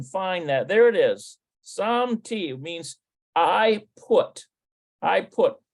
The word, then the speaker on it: שמתי: Okay, so Shamati, no, it says Shemti. It's probably Shemti. Shemti. Yeah, Shemti Galida. שמתי גלידה במקפיא, שמתי גלידה במקפיא, Looks like it's Samti Glida.